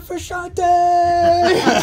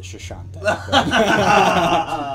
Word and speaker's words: Frusciante: Yeah, John Frusciante. Wow, dude. That's a tough one to Yeah, no, pronounce we're- too, you know? Actually, see, she says it Shashante.